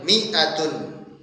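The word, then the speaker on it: مائة: maka penulisan hurufnya dengan mi'atun. Mi'atun. Contohnya mi'atu rajulin. Mi'atu rajulin. Jadi penulisannya di sini mi'atun, setelah mim ada alif. Ya, dan alifnya tidak dibaca. Cara membacanya adalah mi'atun.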